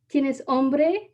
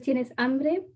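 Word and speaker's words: tienes hambre: are you hungry but she said it wrong and she said tina's hombre instead of tienes ambre which translates to do you have a man instead of are you hungry and she asked a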